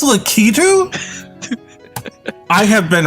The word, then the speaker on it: Lakitu: ketu it's like it's lakitu i have been wrong for 37 years i always taught him latiku i saw i i just reversed the last like two syllables it's lakitu oh my [ __